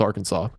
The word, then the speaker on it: Arkansas: I'm actually reading well Kansas is a state in the US and AR Arkansas is the same but it is spelled just AR then Kansas yeah so was pronounced Arkansas okay the prosecution in